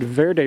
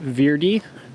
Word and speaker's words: Verde: You notice I said Verde River. Some people pronounce it Verde River. Just depends if you like to pronounce things the Spanish way or the English way.